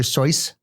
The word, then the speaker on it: Seuss: for racists you know his name was actually it's dr. sois is that true yeah he's supposed to pronounce it that way but everybody cuz of dr. Seuss no idea rhymes a